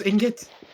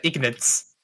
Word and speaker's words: ingot: How did you just pronounce ingot? Ingot. No, you said ignates.